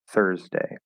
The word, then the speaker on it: Thursday: i guess for example the word thursday it's spelled with the you but it's just er right it's thor so it's just like together except it's voiceless th thur thursday um so really pay